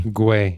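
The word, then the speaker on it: Gwei: Is it Gui? Is that how you say it? Gui. Gway.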